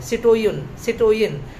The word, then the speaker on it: citoyein: For instance, जो old French language है उसमें सिटोयन करके ये शब्द आया है। सिटोयन CITOYEIN सिटोयन, ये ओल्ड फ्रेंच वर्ड है जो ये मेंशन करता है सिटोयन के बारे में।